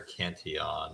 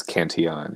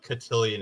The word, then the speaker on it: Cantillon: I think, Richard Cantillon or Cantillon. If it's French, it's Cantillon. Yeah. Well, but Yeah, he but I'm was not Irish, saying but it then French lived in French. So both of those two pronunciations are acceptable, but cotillion is not.